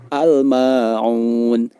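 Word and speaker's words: الماعون: dengan jelas hal Mangunan al-ma'un tidak boleh dibaca ama untuk ama on akan tetapi cara membacanya adalah al-maun al-ma'un al-ma'un halnya dibaca dengan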